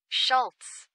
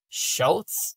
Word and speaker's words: Schulze: favorito, eu escolhi o método de shoquar como pronuncia isso, né? Shorts. Shortz.